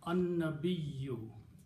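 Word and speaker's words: النبي: Noon and lam, when they come together, you don't pronounce lam, but you pronounce noon twice. So it became an-nabiyyu.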